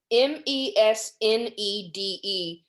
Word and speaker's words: mesnede: And there's this French word, and I'm not even sure how one might pronounce this. Megned, I don't know. So people, Maisonde. No, it's MESNEDE.